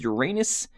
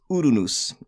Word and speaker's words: Uranus: case back here is the case back with Uranus uh there is Uranus right there and uh or Uranus somebody told me that it's pronounced urunus um whatever I'll call it Uranus I I